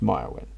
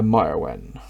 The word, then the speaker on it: Merwin: Pronounced Myrwen. I am Commander Myrwen.